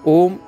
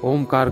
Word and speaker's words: ओम: उच्चारण का सही तरीका है धीमा और गहरा सांस नाभि तक लें, आधा इंच मुंह खोलकर ए का उच्चारण प्रारंभ करें, फिर धीरे धीरे मुंह को बंद करते हुए होठों की एक विशेष आकृति बनाएं, तो स्वतः ही ऊ का उच्चारण होगा और पूरा मुंह बंद कर देने पर मैं का उच्चारण